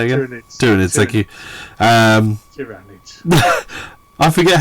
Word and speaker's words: Tyranids: Tyranids, thank you.